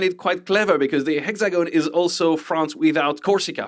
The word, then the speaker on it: Hexagone: Oh, hexagon. Okay, right. Yeah, but in France we don't pronounce the H. We say hexagon.